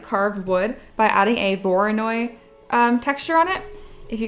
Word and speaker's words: Voronoi: You can make it look like carved wood by adding a Voronoi texture on it.